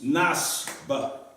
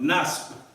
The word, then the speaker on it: نصب: Yes, nasb. It's not ba, but nasb. That B at the end, you hear it, a little bit of it.